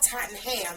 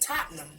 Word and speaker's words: Tottenham: Hopefully, we cross past Liverpool Street or something at the Totten Well, I finally realized how to pronounce the word. It's not Tottenham. It's Tottenham right at the Tottenham Hotspur Stadium.